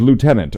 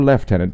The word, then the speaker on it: Lieutenant: Terminators, Terminator Librarian, and Lieutenant or Lieutenant, depending on your regional pronunciation of the word.